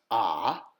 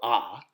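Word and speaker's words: ꜥ: learned which is pronounced ah or really in the back of the throat ah or there's the plan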